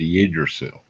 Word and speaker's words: Yggdrasil: It's spelled Yggdrasil. It's called Yggdrasil.